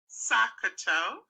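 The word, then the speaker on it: SOHCAHTOA: using this is to take each letter in bold so the first letter of each word in the sentence and pronouncing it as a word that word would be pronounced sakato so if you have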